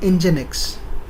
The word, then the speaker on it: Nginx: Now it has its own server called, we pronounce it as Nginx, and the spelling is Nginx.